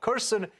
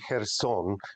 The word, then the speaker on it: Kherson: is looking at this Russian Retreat from uh Kirsten very very cautiously why is that uh it's actually her song is the the way it's pronounced look um